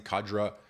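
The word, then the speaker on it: cadre: himself Bridges the rising kadra is how you say that cat kadra of conservative Tech elites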